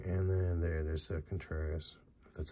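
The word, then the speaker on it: Contreras: here dang bang and then there there's a contrarius that's how you say his name Wilson and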